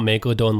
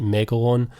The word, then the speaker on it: Megalon: remember how you say it's not megalodon like the shark it's like megalon mega one i think